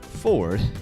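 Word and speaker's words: 4RD: but please understand that 4 Rd pronounced Ford is for moving your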